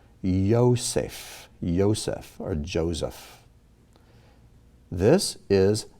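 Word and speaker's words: יוסף: okay the first one this is not ya vosafe it's yosef or joseph here the v is not pronounced you just use the o above so the the vent with the bent with a dot above is just an o not a vo just an o yosef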